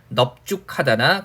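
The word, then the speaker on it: 넓죽하다: 그 다음에 넓다 같은 경우는요, 기본적인 발음이 널 이렇게 발음이 되지만 이 단어, 그죠? 그래서 넙죽하다나, 그 다음에 넙둥굴다. 그래서 넓다에 죽하다나 둥굴다 결합했을 때는 넓다의 어감 부분을 넙이라고 발음을 하게 되는 거죠, 그죠?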